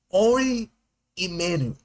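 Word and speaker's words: Ari Emanuel: Oh, let me pronounce his name right. Ori Emanuel.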